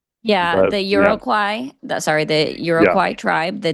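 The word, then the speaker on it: Iroquois: Yeah, I've always heard irokoy, but yeah.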